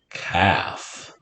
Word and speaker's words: calf: All right, our next word rhymes with half. It's calf.